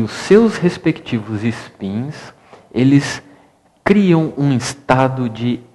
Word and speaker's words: spin: uma nomenclatura chama-se Spin eu pronunciei espin porque a a portuguê é a palavra mas o s é mudo em inglês se pronuncia Spin o Spin basicamente é